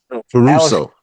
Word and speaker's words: Caruso: Um, Caruso.